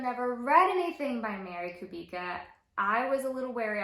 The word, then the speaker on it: Kubica: say her name so friends I've been saying Kubica but after a little bit of digging and watching a few live interviews with her it's could be good so lesson learned